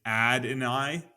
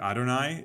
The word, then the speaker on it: Adonai: answer is that I he pronounces his name ad and I uh as opposed to Adonai so I guess you can